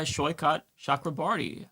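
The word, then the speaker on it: Saikat Chakrabarti: He is uh Shyot Shakraarti. Uh Sho, am I pronouncing your name correctly?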